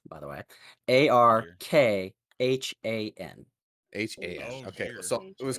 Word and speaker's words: Arkhan: that would be horrible that's acron not to be confused with archon yeah